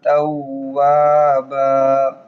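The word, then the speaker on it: تَوَّابًا: আলিফ টান হবে ইন্নাহু কানা তাওবা তাও এক আলিফ টান হবে বাবা বা এক আলিফ টান হবে ইন্নাহু কানা তাওয়াবা ইন্নাহু কানা তাওয়াবা বিসমিল্লাহির রাহমানির রাহিম।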